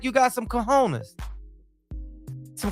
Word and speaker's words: cojones: Fight like you got some cojones. Some cojones.